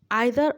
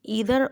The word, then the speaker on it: either: इसको हम pronounce ईदर और नीदर और नॉर भी कह सकते हैं, बिकॉज एक अमेरिकन प्रोनाउंसिएशन है, एक ब्रिटिश है. एक होता है ईदर और नीदर नॉर, एक होता है आइदर और नाइदर नॉर. सो इट्स अप टू यू.